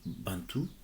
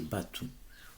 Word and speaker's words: Bantou: train de parler des Bantous, parce que les colons, lorsqu'ils étaient en fait arrivés au Congo, ils entendaient en fait la prononciation Bantou. Mais les mots en question, c'est Batou. On aura le temps de